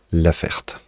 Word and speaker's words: Laferte: Lo voy a pronunciar a la francesa Laferte.